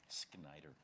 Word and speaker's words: Schneider: Schneider's a tricky one. It is. Snyder.